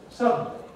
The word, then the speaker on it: suddenly: But in practice, what we normally say is suddenly. And we go straight from D to N. Nevertheless, the word still has three syllables.